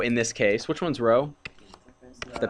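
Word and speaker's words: ρ: the same Row in this case which one's row the P thing yeah you pronounce that row row is the distance from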